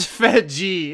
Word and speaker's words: Fedje: Conduit of it's pronounced Fedgie itself.